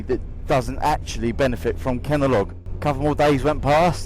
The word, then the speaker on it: Kenalog: The name of the injection is called Kenalog. Like Kellogg's, but Kenalog.